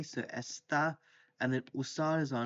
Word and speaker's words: está: So the he, she for estar is está with the accent on the a. So está, and then usar is our infinitive.